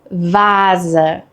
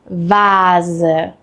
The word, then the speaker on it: Vase: We have a voiced S sound, which is a soft buzzing sound. This sound uses your vocal cords, similar to the English Z in zoo.